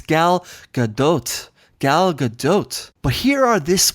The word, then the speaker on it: Gal Gadot: that's where you discuss the pron the correct pronunciation of people have got it wrong with gal GDOT when it's actually galgadot I got it yeah clearly you have yet